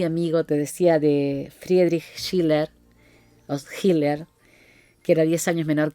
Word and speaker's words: Schiller: Entonces, Friedrich Schiller o Schiller, de acuerdo con la pronunciación alemana, fue un grande, fue